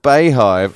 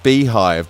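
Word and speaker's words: Beyhive: The Bayhive. Oh, no, so I suppose it's B-E-Y, Beehive, but spelled B-E-Y, because it's like Beyonce, isn't it?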